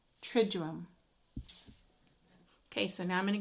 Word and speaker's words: Triduum: But when we pronounce it, we almost have that little J sound in it. Triduum.